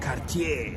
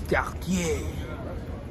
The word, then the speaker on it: Cartier: So he goes, it's not Cartier, it's Cartier.